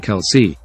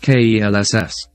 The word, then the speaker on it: Kelce: the 2021 off-season kelsetti pronounces his last name Kelsey because that is the way his father pronounces it although the rest of the paternal side of his family pronounces at kelss Kelsey's brother Jason later